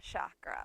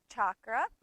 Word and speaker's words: chakra: which is the second chakra. You notice I just said chakra and then I said chakra because they're both the same. The pronunciation can go either way, chakra or chakra.